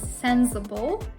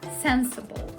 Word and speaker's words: sensible: Be careful with the pronunciation. It's not pronounced with z, so you shouldn't pronounce it as sensible, but rather sensible.